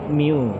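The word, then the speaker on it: μ: Ini dibaca mu. Nah, bacanya mu.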